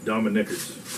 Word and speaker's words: Dominicker: That's Dominickers. That's not how it's spelled. Well, it doesn't matter. It's how it's said.